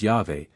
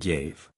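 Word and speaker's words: Yahweh: on the other hand the four consonants YH VH can hardly have been pronounced otherwise than as yave and this pronunciation is supported by the two Greek writers theodoret in epiphanios who say that the word was sounded yaave the form yave however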